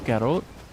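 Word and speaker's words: cà rốt: Guarot. So in Vietnamese, I'm in South Sun Vietnam, so but I'm from the States originally. Uh guarot is how you say carrot.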